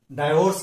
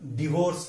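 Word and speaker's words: divorce: अगला शब्द देखेंगे DIVORC। हम इसे गलत डाइवोर्स कहते हैं, लेकिन उसका सही उच्चार डिवोर्स है।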